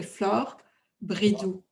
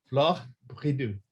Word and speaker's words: Flore Bridoux: I mean, I think that most people mispronounce it. So Flore Bridoux. Bridoux. Okay. Yeah. Flore Bridoux.